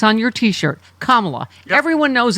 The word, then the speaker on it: Kamala: Look, it's on your T-shirt, Kamala. Yep. Everyone knows it's Kamala. It is not a difficult name to pronounce, and it's a fun name to pronounce.